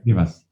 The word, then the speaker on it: Livas: So, without further ado, welcome, and I hope I'm pronouncing your name okay. Livas. Yeah. Oh, Livas. Okay. Livas.